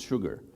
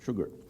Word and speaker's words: Sshoogr: this letter combination and many people ask me how to pronounce that and it's quite easy it's sugar so shalt salt pepper sugar so my name is